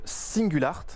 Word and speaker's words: Singulart: le fondateur cofondateur de singles art c'est comme ça qu'on prononce alors on est présent